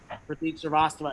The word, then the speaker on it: Pratik Srivastava: And I said, I did the pre-show prep thing where I was like, it's Pratik Srivastava, and the host goes on stage and says, give it up for Sriracha.